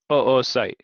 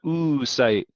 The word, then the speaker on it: oocyte: female gamete is the oocyte i love that word it's literally two o's and it's pronounced oocyte not ooh sight because that'd be weird